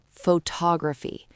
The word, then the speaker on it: photography: Let's try the word photography. The stress is on tog.